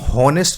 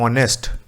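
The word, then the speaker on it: honest: इसको हम हॉनेस्ट नहीं पढ़ते हैं, ठीक है। आपको याद रखना है, अगर आपकी प्रोनाउंसिएशन गलत है तो आप गलत आंसर ही लगाओगे। इसको हम पढ़ते हैं ऑनेस्ट। साउंड किसकी आ रही है, ओ की, और ओ क्या है आपका एक वोवल है, ठीक है।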